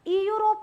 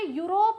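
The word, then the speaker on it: Europe: लिख रही हूं मैं इ यूरोप नहीं लिख रही हूं समझ पा रहे हो क्या अंतर यहां पे यूरोप लिख रही हूं जो कि य का साउंड आ रहा है उच्चारण य हो रहा है यहां पे द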